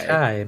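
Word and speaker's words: açaí: It's acai berry. Oh, okay. Acai berry. So you say acai. I hear some people say acai. I hear acai. I hear all these pronunciations.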